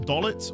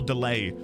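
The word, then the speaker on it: Deling: Out of curiosity, um, I must know in FF8, is it pronounced dolllet or delay? Delay. It's not dolet.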